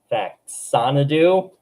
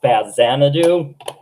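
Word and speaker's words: Faxanadu: Faxanadoo. Uh, actually, I've got it wrong all these times. I believe it's pronounced Faz Xanadu, Super Mario Brothers 3,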